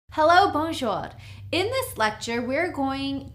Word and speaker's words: bonjour: It's 2 syllables, bonjour.